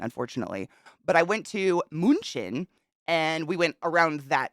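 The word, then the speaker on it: München: I've never thought about that Munchen Munich it's pronounced moonshin munchin thank you moonshin is it North or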